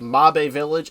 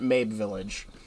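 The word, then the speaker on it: Mabe Village: the fact that this this village is called MB Village and not Mab Village. Oops. That's what happens when it's not pronounced in any other way. I don't know why if it's called M Village, why there's not an accented E on top of the E.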